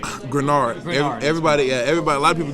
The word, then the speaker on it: Greenard: So the easiest way to remember it is take that second E out. I mean, the second E is silent. Greenard, and it's the same thing.